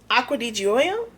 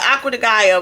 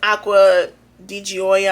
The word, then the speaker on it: Acqua di Gioia: is, they said I was saying it wrong, Acqua di Gioia. I don't like, y'all can see it. How about that? Read it. I call it Acqua di Gaia, but I think they said it's Acqua di Gioia.